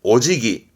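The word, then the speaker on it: お辞儀: 그래서 발음이 오지기, 오지기.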